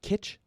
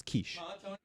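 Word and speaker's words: quiche: But what about what about like the like breakfast pie that's spelled with a Q? Do you call it kit? Yeah, it's kiche.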